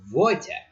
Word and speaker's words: Wojtek: And Wojtek, well, which is known as Wojtek, because W is pronounced V in Polish. The letter V does not exist in Polish.